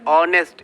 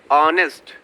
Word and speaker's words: honest: The sound of vowel is coming here, H is silent here, honest. It is pronounced as honest.